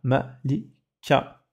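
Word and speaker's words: ملكة: Et la lettre qui la précède, donc la lettre qui est juste avant, apporte le son A en voyelle courte. D'accord? Ici, par exemple, on a Malik, Malik, et là on a Malika, Malika, avec le tarmabuta à la fin, qui montre que c'est féminin.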